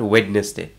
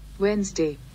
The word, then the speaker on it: Wednesday: have learned for example wedness day it's not wedes day see how it's said Wednesday Wednesday W day next America many of us